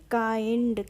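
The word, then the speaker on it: kind: हैं के आई एन डी के आई एन डी तो क्या हो जाएगा इसको हम पढ़ेंगे काइंड कैसे पढ़ेंगे किंड नहीं पढ़ेंगे इसको हम पढ़ते हैं काइंड ओके के आई एनडी काइंड तो ऐसे ही हम पढ़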